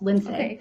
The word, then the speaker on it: Lindsay: get creative with my name so it's actually pronounced lindsay but call me call me it's